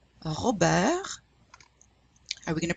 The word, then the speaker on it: Robert: And notice that we're not pronouncing the S in Paris or the T in Robert, because careful, generally, only the consonants C, R, F, and L are pronounced at the end of a French word.